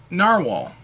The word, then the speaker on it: Nahvalur: pen stuff so but they said that they're still pronouncing it narwhal hmm so let me try that um navalar my name's so